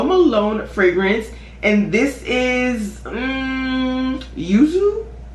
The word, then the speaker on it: Yuzu: And then last but not least, we have a Jo Malone fragrance, and this is Yuzu. Yuzu, that's how I'm gonna pronounce it.